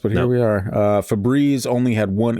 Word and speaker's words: Febreze: with money they're like it's not fabreze it's febreze is it spelled with one e it's spelled with 20. yeah sounds like febreze to me yeah you can see either way there's an e at the end so the e makes an e sound that's grammar the e